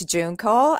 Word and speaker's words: Junko: to pronounce but um it's like a month of june and call and it's a japanese name actually okay so thank